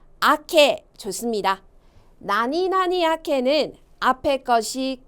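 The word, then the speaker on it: 明け: 발음이요. 아케 좋습니다.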